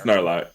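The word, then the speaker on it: Knarlock: it is spelled KN. Thank you. Oh, Yeah. well, Oh, oops. okay. It is a K and R. yeah, AR. it's Narlock. The K is silent.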